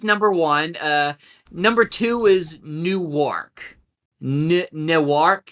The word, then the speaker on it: Newark: But if you live out of here, Newark. But it's not New York. Newark.